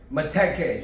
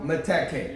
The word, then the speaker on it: Meteke: It's called Meteke. Meteke. Yeah. Meteke.